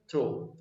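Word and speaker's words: through: लोग इसको थ्रो पढ़ते हैं, लेकिन मैं आपको इसका एक्यूरेट प्रोनाउंसिएशन बताऊं, इसका जो एक्चुअली प्रोनाउंसिएशन होता है वो होता है थ्रू। क्या होता है? थ्रू। तो आज के बाद इसको क्या पढ़ना है? थ्रू पढ़ना है।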